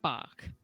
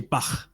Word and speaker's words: Bach: So he's playing Bach.